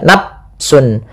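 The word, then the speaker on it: نَفْسٌ: Misalnya nafsun ini dengan diganti dengan P ya padahal dia bukan.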